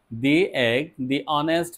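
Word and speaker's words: honest: শুরু হয় তাহলে এগ অনেস্ট ম্যান এটা এইচ থাকা সত্ত্বে এ উচ্চারণটা হচ্ছে অ এর মত এর মত হলে তাহলে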